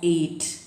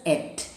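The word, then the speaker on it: ate: its past tenses at you cannot read it as eight the pronunciation is at a t e a t e is at past tense of eat and they both act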